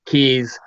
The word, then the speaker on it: Kues: the words and then keys my last name is K u es but it's pronounced key so trying to help